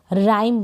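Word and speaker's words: rhyme: RH को र पढ़ रहे हैं, मतलब R का तो प्रोनाउंसिएशन हो रहा है, H यहाँ पर साइलेंट है। Y को पढ़ दिया आई और M को म। राइम बन गया।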